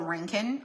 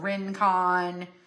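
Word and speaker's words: Rincon: I live in a small town called Ranken. R I N C O N. Most people don't know how to say they're like Rencon.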